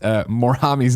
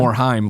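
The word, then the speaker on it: Morhaime: Greg mispronounced Morhami's name as well. I'm saying it wrong again on purpose. Like Morheim, it's Morheim, like mime.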